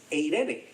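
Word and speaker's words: εἰρήνη: es eh charis Y la palabra que es paz que es eirene palabrita rara verdad Pero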